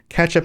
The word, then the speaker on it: Catchup: Catchup as in catch up, not like ketchup, like the condiment.